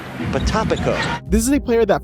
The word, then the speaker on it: Potapenko: Well, we've been saying Potapenko for weeks, but it's actually Potapenko.